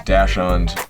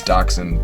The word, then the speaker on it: Dachshund: For this next joke, I thought it was Dachshund as the dog's name, but I looked it up on Google Pronounce and it said it's Dachshund, so I'm gonna pronounce it the way that Google tells me to.